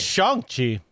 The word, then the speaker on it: Shang-Chi: Also, I found out it's Shang-Chi, not Shang.